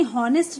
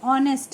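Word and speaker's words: honest: एच से शुरू है। लेकिन ये हॉनेस्ट नहीं है। ऑनेस्ट है।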